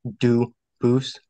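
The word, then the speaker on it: Dubois: get your name straight I know a family with that the same exact spelling in American they do pronounce it dubis but you said you pronounce it Duo as the original du Boose as the original French French yep very well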